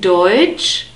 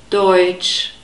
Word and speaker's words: Deutsch: And in Deutsch, we have the next diphthong. It's the oi diphthong. E and U is oi.